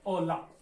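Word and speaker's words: hola: ओला कहने का मतलब है, मैं ओला इसलिए बोल रहा हूँ कैसे, क्योंकि मैंने पहले भी आपको बताया है कि स्पेनिश में एच शांत है। ठीक है, एच साइलेंट है, एच का कोई उच्चारण नहीं होता, लेकिन लिखा जरूर जाता है।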